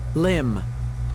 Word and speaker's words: limb: Limb. Limb as well. The B here at the end is silent.